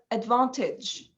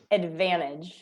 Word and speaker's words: advantage: advantage advantage okay so it is totally different here you don't also you don't only uh pronounce the t you um made something in the a after the v um yeah so in the a after the v with advan yeah yeah so i guess there are two differences there uh with two different sounds there yeah so advantage so i